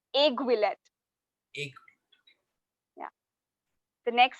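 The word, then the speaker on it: aiguillette: Argulet. I'm sorry, that's not the correct pronunciation. It's aiguillet.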